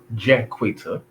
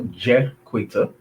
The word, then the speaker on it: Jaquita: It's pronounced Jaquita. For those that don't know, Jaquita.